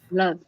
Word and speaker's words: love: Love. Love. Yeah, it's kind of more of a U sound. Love. But you see, it's a sound which is called schwa sound.